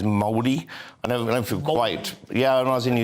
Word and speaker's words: Māori: They are using native and Maori. We say Maori, but actually the correct pronunciation I'm told is Māori.